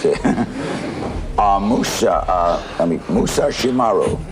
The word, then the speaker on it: Musashimaru: name right all right musashimaru musashimaru mus the r is hard okay you what made